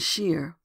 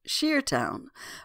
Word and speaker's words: shire: Within 30 years, Shiretown was generally pronounced Sheertown by the country folk of New England. This pronunciation, or that which makes it sure, continues, of course, universally where shire is a final syllable. But when used alone or at the beginning of a word, phonetic spelling has triumphed, and shire is pronounced as spelled.